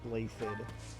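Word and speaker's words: Blaiddyd: All this time, I didn't realize that it was actually properly pronounced Blaithid.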